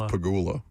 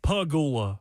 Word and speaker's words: Pegula: No, you're you're very much emphasizing the peg. Pigula. Pigula. I don't even remember how to say it correctly. Okay. Terry, you piggula. The bills owner. That's Look at it now. He's scared. Say it the same way. Say it like the dog. Like pagula.